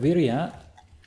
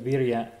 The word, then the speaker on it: vira: word we right uh this word we with a long I at the beginning uh is incorrect okay word Vira has a short I